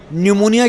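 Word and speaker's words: pneumonia: उनकी भाषा है जहां न्यूमोनिया की स्पेलिंग अगर आप लिखते हैं तो आप पी से लिखते हैं। एन से नहीं लिखते। कहते हैं भैया पी साइलेंट है।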